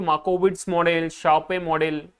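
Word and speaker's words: Sharpe: Capital market theory, CMT, बाय शार्पे। शार्पे, but actual में इसका है ना प्रोनाउंसिएशन शार्प ऐसा होता है, बाय शार्प। ओके, पे मत कर देना उसको, हम तो ऐसे ही बोले।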